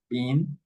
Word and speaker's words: bean: pronounce like the same, bean, bean, no? Bean, bean. bin, bean, And here is the same difference, no? A short I, bin, Bin. bin, and a long I, bean, no?